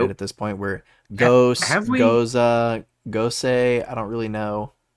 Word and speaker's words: Gose: to my advantage yeah someone on Reddit said it's go goza goza okay um so I